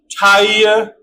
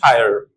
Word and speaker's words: tire: Like British tire, American tire. Okay, what is the reason of this? In British, it is lengthened. See? I-R-E. E is silent at the end. And in British English, R is also silent at the end. So what happens that when the vowel remains alone at the end, it glides a little bit.